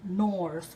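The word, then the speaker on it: Knorr: and they got the one I think from nors which is spelled k n o r r and it's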